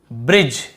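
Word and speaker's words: bridge: type name shine change ब्रिज यहां पर भी देखिए डी भी साइलेंट है और ई भी साइलेंट है दोनों आ गए ब्रिज वाले में तो यहां पे आपने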